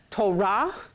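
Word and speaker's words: תורה: the right Salah Bowl we get Torah instead of tora tora tora give me some torah I've been saying it Torah for so long now but it's hard to say it any other way okay but get your accent on the second syllable okay so it's too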